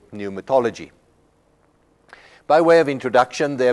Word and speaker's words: pneumatology: use for that is pneumatology now in English we don't pronounce the P in that word but in Greek we actually do so pluma means spirit